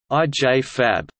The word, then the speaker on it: IJFAB: IJFAB, International Journal of Feminist Approaches to Bioethics, is a biannual peer-reviewed academic journal providing a forum in bioethics for feminist thought and debate. The journal, pronounced IJFAB, is a publication of